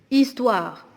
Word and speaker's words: histoire: Histoire, on a ici deux lettres muettes, le H et le E.